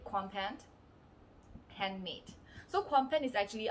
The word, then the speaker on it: Kwanpen: So Kwanpen. So this is how it's going to be pronounced.